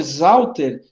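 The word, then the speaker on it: Sauter: E no meu caso, o sobrenome Zauter se fala com Z, mas se escreve com S, tá?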